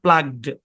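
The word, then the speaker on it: plugged: তো আগে দেখতে পাচ্ছি এখানে আমাদের জি সাউন্ড আছে তার মানে এটা একটা ভয়েস সাউন্ড তাহলে এই শব্দের উচ্চারণ হবে প্লাগড কি উচ্চারণ হবে প্লাগড হ্যাঁ এরকম প্লাগডে একই কনসোনেন্ট দুইবার থাকলে একটা কনসোনেন্ট ধরে উচ্চারণ করতে হয় দেখেন এবার আরেকটা মজার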